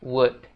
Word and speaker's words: would: Nah, untuk pengucapannya, would itu jangan dibaca would lagi ya guys. Tapi bacanya cuman WUD doang. Jadinya would gitu.